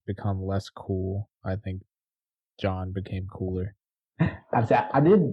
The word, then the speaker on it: Jean: character oh you mean oh they pronounced it john the dub bob now is correct i thought he was